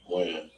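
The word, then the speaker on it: Wynn: Win. Win or Wan?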